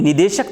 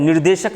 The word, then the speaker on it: निदेशक: सही इसका नीति निदेशक तत्व होता है, निर्देशक नहीं होता है।